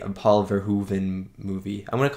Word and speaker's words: Verhoeven: it's been four movies now i heard someone in the comments said it was like ver hoove and like hoover damn right so i'm just gonna say paul verhoeven i i'm just gonna